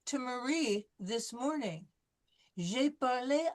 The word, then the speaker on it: parlé: nous You have avons parlé avec la You have to professeure.